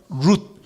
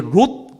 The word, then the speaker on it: 룻: 버린 모압의 과부 여인이었던 룻. 룻이라고 잘 쓰셔야 돼요. 롯. 이렇게 쓰면 안 돼요. 롯은 누구예요? 아브라함의 조카 롯이고, 그렇죠? 이름 비스무리한데 달라요. 여긴 룻. 한번 연습해 보겠습니다. 롯. 네, 이거 발음 잘해야 돼요.